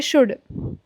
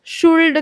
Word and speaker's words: should: अभी जो मोस्टेंट पार्ट है यह जो वर्ड है ना इसको बहुत सारे स्टूडेंट्स शुल्ड कहते हैं। तो यह शुल्ड नहीं है। इसमें जो है एल साइलेंट है।